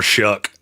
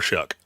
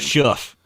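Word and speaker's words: Shough: it would be Tyler Shuck. And yes, his last nine rhymes with duck, not shelf. The next person I hear calling Tyler Sha. I'm going to lose my mind. Shuff.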